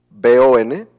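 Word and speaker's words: von: en los nombres alemanes, cuando tu nombre empieza con B o N, bon, que en realidad se pronunciaría creo que fon, como que se pronuncia como f la v, este significa d.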